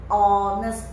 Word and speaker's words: honest: And you see this word, the pronunciation is honest, honest, not honest, not honest. There's no H sound.